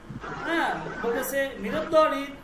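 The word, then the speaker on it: بله: তাহলে কি পেন্সিল আছে বলতেছে এই পুরা লাইনটার কথা একটাই যে মেদ তাহলে কি পেন্সিল আছে বলেছে বালে কি বলছে দেখেন এট উচ্চারণটা হচ্ছে বালে বালে মানে হা বালে বালে মানে হা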